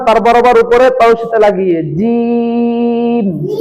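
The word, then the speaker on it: جيم: জিম জিহ্বার মধ্যখান থেকে জিহ্বার মধ্যখান তার বরাবর উপরে তশিটা লাগিয়ে জিম জি জি জিহ্বার মধ্য বরবর উপরে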